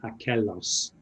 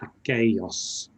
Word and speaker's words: aquellos: The double L in aquello is needs that y sound. So we wouldn't say aquelos, we'd say aquellos. So make sure there's the y sound there.